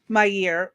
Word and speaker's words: Meir: Yeah, Golda She Meir. says, "Go ahead." Golda Meir. My year.